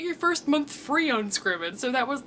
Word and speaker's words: Scribd: Future Whitney reporting live to tell you that Scribd is actually pronounced Scribd.